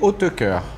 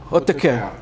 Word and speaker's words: Hautekeur: Meu sobrenome é Hautecoeur. Hautecoeur. Escreve-se como se pronuncia. Tem que fazer biquinho. É flamenco, na verdade, de Flandres.